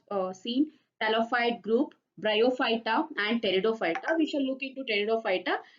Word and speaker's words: Pteridophyta: So P is silent here. You need to pronounce it as Pteridophyta.